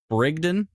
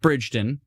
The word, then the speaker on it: Brigden: big night for me I've learned Brigden not bridon brigon kamoka that's also one